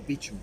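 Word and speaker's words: Beauchamp: there one more yeah how do you pronounce the name of that Tower uh the beach Tower oh shoot if you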